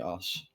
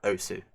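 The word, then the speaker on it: osu!: The U is yes, it is OS. The U is silent because The I've heard.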